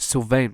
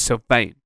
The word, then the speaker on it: Sylvain: you guys but ah it's not still vain man it's not logan paul it's like it's surveillance it's not brianna ah it's sylvain it's not beyonce i get it i'm not beyonce okay but say my name sent my name is silvain okay i'm joking anyway